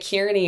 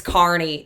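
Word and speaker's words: Kearney: I was like, "Oh yeah, I stopped in uh I think I was pronouncing it Kierney at that point and they immediately was going, "Oh, it's not it's Carney. It's Carney, Nebraska."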